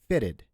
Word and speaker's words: fitted: Now, it is also pronounced as ID, id, right, for the verbs that end in A, T, or D. So, for example, fitted, fitted. So there's a I sound at the end of it, right, before the D.